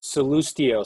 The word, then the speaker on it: Sallustio: And one slight correction, my last name is pronounced Sallustio. So when you say it, you've got to have a little Italian panache behind it.